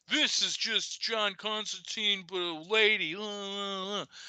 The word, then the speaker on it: Constantine: come to find out neil gaiman has corrected the world we've all been saying it wrong it is not constantine the character was always constantine um and so joanna